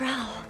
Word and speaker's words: Raoul: It's Raoul.